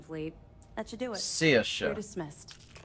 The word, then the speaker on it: Saoirse: Saoirse. You're dismissed. Sercha. Saoirse. I'm gonna try and remember to say it properly.